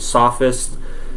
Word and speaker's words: Sophists: aren't necessarily philosophers they're the sophist or the Sophists that's how you pronounce it Sophists basically you can think